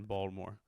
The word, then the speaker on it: Baltimore: Baltimore, I was told is how you pronounce it. It's almost like Louisville. You drop the T, you add a D, but it's a soft D. Impotent D in Baltimore.